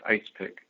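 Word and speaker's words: EISPC: States Planning Council that the abbreviation is usually pronounced ice pick and there was a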